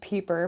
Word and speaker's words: Pieper: It's pronounced Pieper, but Pieper? I get Piper a lot.